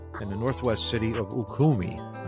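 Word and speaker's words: Ürümqi: a fatal fire in the Northwest city of ukumi u r u m q i good luck on pronouncing that gentlemen but that's how I'm giving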